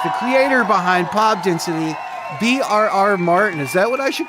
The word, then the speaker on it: VRR Martin: my awesome guest the Creator behind pop density brr Martin is that what I should call you Martin